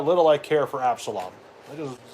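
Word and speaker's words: Absalom: common they're all from Absalon Absalon that's how you pronounce it I think I mentioned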